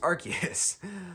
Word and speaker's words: Arceus: one which brandon here keeps referencing pokemon legends arceus yes it's pronounced arceus which is just this big game and we